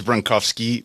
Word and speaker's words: Bronkowski: Central Studio by Joel bronowski is that am I pronouncing your name correctly Joel yeah yeah I've since learned it's bronovsky but I go by bronovsky bronovsky I suppose it